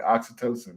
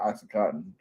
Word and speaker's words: oxytocin: and serotonin that time I said it right oxytocin not oxycoton all that